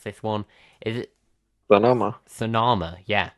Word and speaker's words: Sonoma: I honestly haven't heard anybody pronounce this one. Is it Sonoma. Sonoma? Yeah, Sonoma.